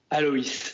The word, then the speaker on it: Aloïs: Alors ensuite, alors je sais pas comment prononcer ton pseudo. Allo? C'est Aloïs.